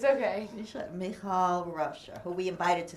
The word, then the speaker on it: Michal: on that, because you did also work with Mikhail Rauscher. Am I pronouncing her name? Michal. Okay. It's okay. Michal Rauscher, who we invited to speak here as well, and I know you collaborated with her.